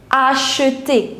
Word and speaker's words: acheter: But in French, whenever you will see the combination CH, the pronunciation is sh. So, acheter. Again, ER at the end, so it will give you the sound of A.